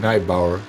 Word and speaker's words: Nijboer: I keep saying Nijboer while I know it's Nijboer. As you know, when you're speaking English, you immediately change the pronunciation of the names as well.